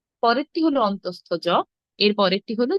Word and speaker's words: অন্তঃস্থ জ: আমি চ্যাট বক্সে লিখেছি, দেখুন উচ্চারণ হবে অন্তঃস্থ জ, অন্তঃস্থ জ, অন্তঃস্থ জ।